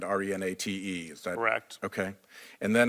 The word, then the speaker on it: Renate: you know Renata Renata it's spelled with an e at the end re na te is direct okay and